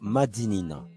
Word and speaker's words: Madinina: Par l'oral, dans la langue créole, nous avons conservé la bonne prononciation qui est donc Madinina.